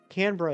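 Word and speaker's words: Canberra: So, Canra Canra is how it's pronounced.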